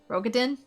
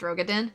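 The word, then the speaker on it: Raubahn: he' take the ladder rogin it's pronounced rogin okay sorry fleeing those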